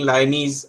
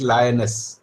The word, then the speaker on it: lioness: This teacher used two different pronunciations for it. Sometimes she was saying Lyonesse and sometimes she said lioness. So don't get confused. You will hear different pronunciations in different videos, but the correct one that you should learn is lioness.